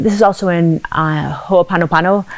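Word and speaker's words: hoʻoponopono: is also in uh ho apanopano i consistently pronounce this wrong yeah but oh ponopono i think that's how i pronounce it yeah i hear it different ways yes so um anyway but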